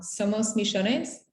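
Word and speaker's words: Somos Millones: i did it wrong somos michonnes well that's my argentinian accent but you say it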